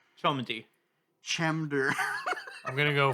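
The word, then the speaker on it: Cholmondeley: Chumy. Chamder. I'm going to go full pawn stars and say it's pronounced Chumley. There's some there's some like colonel in here like colonal. It's Chumley.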